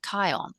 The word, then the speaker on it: Kion: It's like Keon or Kion, like lion.